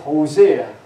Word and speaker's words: Hosea: It's whole C, S-E-A is C. But they have to pronounce it Hosea.